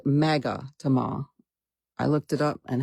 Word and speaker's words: magatama: They're called magatama. I looked it up and had Google pronounce it for me today.